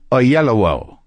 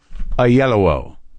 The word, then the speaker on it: Oyelowo: video to make sure I knew how to pronounce it a yellow David a yellow okay so he's on the show he's a